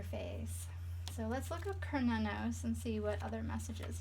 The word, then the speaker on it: Cernunnos: Cernunnos, pronounced Cernunnos, also known as Hern, is a Celtic stag god who represents connection to the earth.